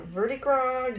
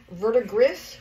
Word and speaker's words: verdigris: And then we've got some verdigris green, or verdigris, however you want to pronounce it.